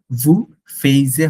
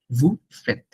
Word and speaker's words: vous faites: হ্যাঁ, সো এখানে কিন্তু দেখেন মনে রাখবেন, ভু ফেইজে হবে না, এটা অনেক ফ্রেঞ্চরা অনেক সময় ভুল করে ফেলেন। ভু ফেত, একদম ফিক্স মনে রাখবেন, ভু ফেত।